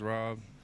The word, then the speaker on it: Ro66: My name's Rob. Uh, it's spelled R66, though. So, like instead of two B's, it's two sixes. Ro66, it's Rob.